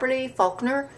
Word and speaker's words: Faulkner: Faulkner.